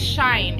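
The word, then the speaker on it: SHEIN: whatnot i tried that i believe it's pronounced shine it's the company called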